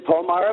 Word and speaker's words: Palmyra: You're in, how do you pronounce it, Palmyra? It's in Palmyra, Pennsylvania, which is about 10 minutes from Hershey,